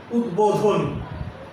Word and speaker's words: উদ্বোধন: আমি আবার বলছি, উপসর্গ যোগে গঠিত কোন শব্দে যদি ব ফলা থাকে তাহলে সেই বয়ের উচ্চারণ হবে না। যেমন উৎ যোগ বেল, উদ্বেল। উৎ যোগ বোধন, উদ্বোধন।